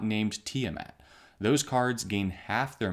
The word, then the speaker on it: Tiamat: for pointing out that the pronunciation of this is tiamat instead of tiamet which is how i